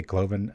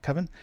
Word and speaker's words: Coven: I always say Cloven. I said it right that time, though. Coven.